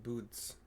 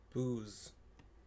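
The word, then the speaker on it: buuz: Again, B-U-U-Z should not be pronounced boots. It's booze.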